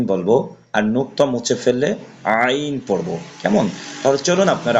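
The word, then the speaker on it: ع: আইন মাঝের আইন শেষের আইন নোক্তা দিলে গইন হবে আর আইন হরফ কন্ঠনালী বা গলার মধ্যখানে হয়তো উচ্চারণ হয় এজন্য একটু চাপ দিয়ে পড়তে হবে হামজা এবং আইনের ভিতরে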